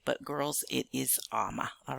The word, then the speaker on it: Ama: in America from Ghana, I go by the name of Ama. It's spelled A-M-A. I know some of you are saying Alma. That's okay. Maybe that's the way it sounds when I say it.